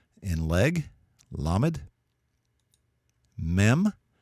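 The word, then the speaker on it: מם: Mem, like in the M in memory.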